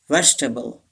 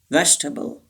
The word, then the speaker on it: vegetable: can't pronounce okay vegetable this e is silent vegetable and this is not table table vegetable to practice vegetable vegetable the last number tell